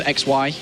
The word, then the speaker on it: XY: Shy is actually how you say it. I prefer XY, but if I that's...